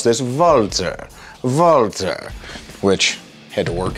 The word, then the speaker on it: Walther: We English speakers pronounce this Walther, but if you are German or Austrian, you would pronounce this Walther.